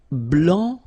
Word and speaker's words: blanc: here okay so here masculine BL don't pronounce the final C and then blanch okay